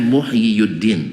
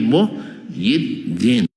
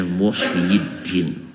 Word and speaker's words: Muhyiddin: Cuman karena berat bagi orang Arab dibaca yi saja gak dibaca Muhyiyuddin tapi Muhyiddin. Paham? Karena dommaah di atas ya itu berat bagi lisan orang Arab. sehingga bacanya Muhyiddin, asalannya Muhyiyuddin.